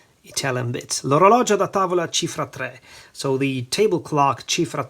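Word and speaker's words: Cifra Tre: So the way to pronounce this is Chifra Tre, as I've said a couple of times already.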